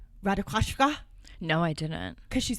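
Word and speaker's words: Ratajkowski: video where she says her name is actually pronounced Radakoska? No, I didn't. Cuz she's Polish. I mispronounced it. So, it's not Ra. It's I would say Emily Ratikowski. It's not that. It's not Radikowski.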